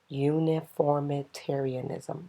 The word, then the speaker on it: uniformitarianism: your first is uniformitarianism uniformitarianism break that down uniform it arianism and the word you're hearing there is uniform so uniformitarianism if you slow down and use your vowels and your syllables it's very easy to say and if at any